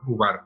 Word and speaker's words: Ubar: Ok, entonces, él pensaba que había encontrado la ciudad Ubar, le voy a decir Ubar. Uber, ok, muy bien. Ubar, porque va con la pronunciación como la central.